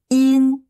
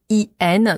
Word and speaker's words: 阴: donc d'abord la prononciation in en chinoise la transcription phonétique ça fait y i n donc y ça se prononce comme i comme deux fois i donc c'est la même